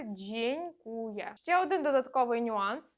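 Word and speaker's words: dziękuję: ядьо і з носовим слово яке ви вже знаєте дзенькує джень Куя через ЖЖ а не через такого ніколи не буває дзенькує це неправильно не повторюйте правильно буде дзенькує ще один додатковий нюанс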